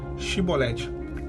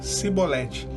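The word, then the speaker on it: שיבולת: pronunciar cada uma e pronunciar a palavra shiboleth hebraico quer dizer em show algo volumoso e eles não conseguiam é o linguajar aliás jahleto tinha eles não falavam chevrolet que eles falavam sibolete caía né a máscara deles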